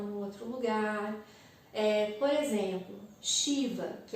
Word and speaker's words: Shiva: dos símbolos do yoga, Shiva, a escrita correta é S, e em cima desse S tem um acento, que é o que traz a pronúncia de Shi, como se fosse um SH, um CH, para nós aqui no Ocidente.